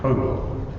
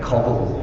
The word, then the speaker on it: cobalt: Cobalt. I wanted someone to say cobble or something like that. But yes, cobalt.